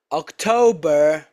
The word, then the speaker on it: October: Which five months are stressed on the second syllable? July, September, October, November and December.